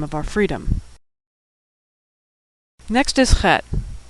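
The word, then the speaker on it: חית: That's a tricky one to pronounce because we don't have that sound in English. It's a throat-clearing sound like the German Ach, or the Scottish Loch, or like you're getting ready to hock a loogie.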